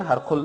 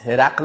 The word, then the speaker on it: هرقل: روان کرده، به هرقل، بعضی نامش هم غلط میگن، هرقل میگن، هرقل نیست هرقل است، درست تلفظ بکنین.